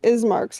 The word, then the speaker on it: Ismark: we were going to ismark's house his name is mark right ismark i'm thinking of bismarck but without the b that's all of them thinking it's it's it's pronounced beast ismark eastmark listen i'm sorry